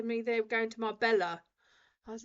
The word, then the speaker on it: Marbella: Okay, so Marbella, it's Marbella. But also, again, in different countries, the pronunciations are different, and even some of the words are different.